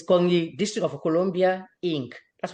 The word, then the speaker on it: NKONI: So the Facebook page is simply called KONI. KONI District of Columbia, Inc. There you go. And let us make sure we are spelling this KONI, because we are pronouncing it the way it should be pronounced, but how is it actually spelled?